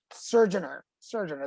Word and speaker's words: Surgener: Surgener.